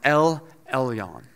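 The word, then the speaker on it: אל עליון: In Hebrew, it's pronounced El Elyon.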